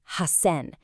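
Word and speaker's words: 八千: It's hassen. The s turns into a really strong held double s. Hassen. I urge you to just repeat that aloud right now. Hassen.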